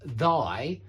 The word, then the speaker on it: thy: That TH in thy is voiced, yeah. It's not thigh, because that's a part of the body.